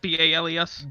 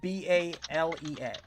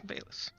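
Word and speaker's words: Bailes: Just B-A-L-E-S. B-A-L-E-S. B-A-I-L-E-S. B-A-I-L-E-S. Ah, okay, Bayless. It's pronounced Bales.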